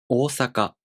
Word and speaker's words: Ōsaka: For example, “oosaka”, this word also takes 4 beats to pronounce.